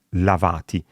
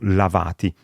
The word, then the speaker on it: lavàti: Attenzione all'accento, perché l'imperativo singolare, per esempio di lavarsi, è lavati, mentre il participio passato maschile plurale è lavati, si sono lavati, quindi cambia l'accento, ma anche in questo caso non si segna graficamente.